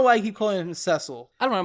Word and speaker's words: Cecil: I don't know why I keep calling him Cecile. I don't know. Most people pronounce the name Cecil, but I don't know. My brain just says Ceil.